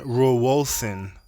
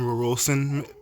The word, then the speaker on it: Rauwolscine: Yohimbine tree bark, not yohimbe, yohimbine tree bark, which you can get in pill form, and rowolsin, which is similar to yohimbine, but it's more neurological as opposed to direct thermogenic energy.